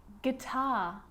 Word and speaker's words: guitar: Now the letter U can also be silent, and I bet you didn't think of that letter when we started talking about silent letters in English, but it's quite common. Have a look at all of these examples of really common English words. Words like guitar and guilty and tongue and guard, colleague, guess.